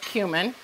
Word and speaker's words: cumin: blah and your cumin cumin and it is pronounced cumin and your allspice just